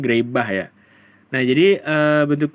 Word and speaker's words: Greibach: dengan materi bentuk normal grebah dibacanya grebah ya nah jadi eh